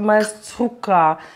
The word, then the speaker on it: malsouka: mon beau-père l'est et tu dois toujours utiliser le K donc Malsouka j'ai demandé à mon frère hier.